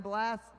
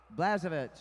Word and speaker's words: Blazovich: is uh who Jonathan blast I said it wrong blazovich okay we get our